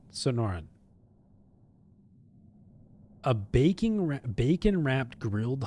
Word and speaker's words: Sonoran: Sonoran. Sonoran.